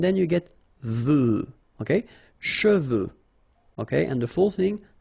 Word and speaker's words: cheveux: Usually this one is a bit of a problem because some of the students normally pronounce it chevaux. Okay, so try to keep in mind that you get E-U here.